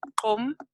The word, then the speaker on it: Gqom: It's called Qom, Qom music. It's spelled GQOM, and it's like a really exciting sound.